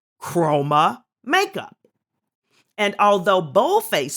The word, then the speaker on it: Chroma: They're both pronounced Chroma, but one with a K, one with a C.